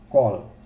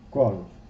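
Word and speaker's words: קול: Temos aqui a palavra Kol, né? Kaf, Kof, Vav e o Lamed, né? Kol, translitera-se assim, ó. Kol, que quer dizer voz.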